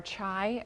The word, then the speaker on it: chai: beautiful family, and so our home traditions stem from the northern part of India, and so that's how we pronounce chai.